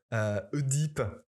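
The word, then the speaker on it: Œdipe: coin eux dans l'eau d'origine grecque devrait se prononcer est normalement un comme les otages oedipe et deep et son complexe oecuméniques ou encore l'oenologue et son amour du vin bon alors cela les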